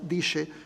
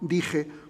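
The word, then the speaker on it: dixe: escrito aquí Diche, aunque aquí todavía se pronuncia Diche y no Dije, como lo pronunciaríamos nosotros en el español contemporáneo.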